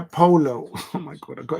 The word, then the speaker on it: Paulo: Not Paolo, Polo.